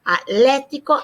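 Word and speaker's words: atlético: doesn't do it here atletico atletico it's kind of tough to get in that habit of getting rid of that h but we must atletico atletico accent on the elephant and then let's remind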